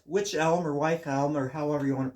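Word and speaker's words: wych elm: not which elm or white elm or however you want to pronounce it correctly. If you want to pronounce it correctly, probably don't call it witch elm. WY ch.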